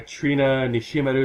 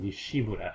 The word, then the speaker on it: Nishimaru: going to be there trina nishimaru is going to be there i spent up to now i've always pronounced her last name nishimura instead oh that's how you say it yeah it's trina